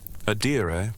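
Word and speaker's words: adire: Adira, pronounced a di was a prominent resist dying tradition.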